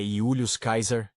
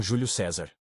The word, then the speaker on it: Iulius Caesar: Dessa forma, Iulius e Caesar representam a pronúncia mais próxima do original em latim clássico.